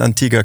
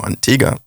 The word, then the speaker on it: Antigua: So we booked a vacation, left Ibiza, went to Antigua. The locals say Antigua, not Antigua, but it's named from the Spanish conquistadores. So it's of course correct would be Antigua.